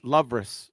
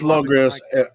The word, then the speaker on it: Logris: I thought he said Lovris, so I thought, yeah. No, it's Logris, Logria. That's the way I'm pronouncing it. How should we pronounce it? Logris, is that okay? Logris? Yeah, Logris. Sounds like a watch.